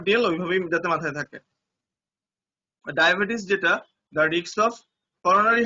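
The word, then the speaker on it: diabetes: মাথায় রাখতে হবে ডায়াবেটিস ওয়ার্ডটা অনেক সময় লিখতে দিতে পারে যে ডায়াবেটিস লেখো, বা অনেকে বলে ডায়াবেটিক্স বলে, তো ওইভাবে না, ডায়াবেটিস এইভাবে উচ্চারণ করবা, ডয়কার ডা উনতেস্তিকার আ দয়কার বে টরিষ্কার টি স, এখানে হচ্ছে ডায়াবেটিস।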